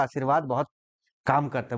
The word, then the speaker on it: आशीर्वाद: तो बोल जाते हैं जबकि आशीर्वाद उस पे दबाव डाल के सी दबाव आशीर्वाद है ना तो ऐसे उच्चारण